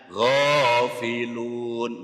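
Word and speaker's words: غافلون: Panjangnya 1 sampai 3 alif, 2 sampai 6 harokat. Jadi cara bacanya ghafilun, boleh ghafilun.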